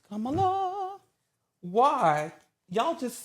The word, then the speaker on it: Kamala: First of all, it's Kamala. Yeah, it's Kamala.